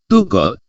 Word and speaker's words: tungkot: diucapkan Bu demikian juga dalam bahasa Batak Toba tertulis tungkot dibaca diucapkan to call pada contoh di atas